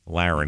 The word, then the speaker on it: Laron: So this is Laron, Laron, Laron, he pronounces it.